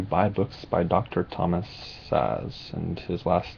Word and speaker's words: Szasz: recommend that you buy books by Dr Thomas saz and his last name is spelled s-z-a-s-z um he passed away this year at the age of 92.